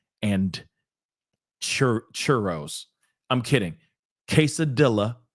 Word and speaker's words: quesadilla: day, eating burritos and quesadillas and churros. I'm kidding. Quesadilla is not how you pronounce it. Okay. I know, but still, it's just for comedy. But moving on. Quesadilla, just so you know.